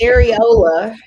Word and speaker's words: areola: First of all, you don't even know how to say it right. It's Areola.